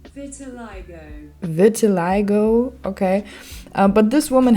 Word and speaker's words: vitiligo: Google Translate says vitiligo.